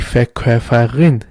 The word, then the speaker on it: Verkäufer: You say der Verkäufer or die Verkäuferin. You can see here's also an umlaut. That's why you say Verkäufer, not Verkäufer. You say Verkäufer and Verkäuferin.